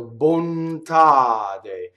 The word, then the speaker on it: bontade: So bontade. Now notice what happens to the N. So N's and M's and L's that touch consonants, they double internally in a word. Did you notice that, right? Bontade, right?